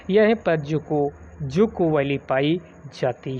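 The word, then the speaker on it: Dzükou: तो इसमें जुकू वैली ध्यान दीजिएगा, ये आपका क्वेश्चन पूछा जा सकता है, डी साइलेंट है, जुकू घाटी।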